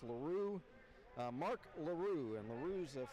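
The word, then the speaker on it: L'Heureux: i'm a bigger partner not not 2737 it's larue mark larue and larue's a french name l apostrophe h e u r e u x pronounced alaru mark m-a-r-c very french name and he will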